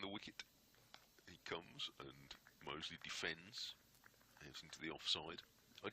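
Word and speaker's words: Mousley: best of my knowledge it's still mosle as in the district of Birmingham round the week comes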